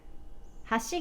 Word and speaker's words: 橋: high and goes down from there then bridge has she gave us an edge has she got he